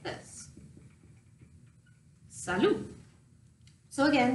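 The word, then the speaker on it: salut: hello looks like this Saloon so again the thing about French is that you are not pronouncing the last consonant so it's phonetically is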